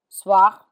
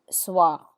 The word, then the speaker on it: soir: Soir, soir, which is evening.